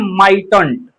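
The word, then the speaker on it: mightn't: तो इसे पढ़ते हैं माइटंट। आप सही सुन रहे हैं माइटंट लेकिन यहां पर देखिए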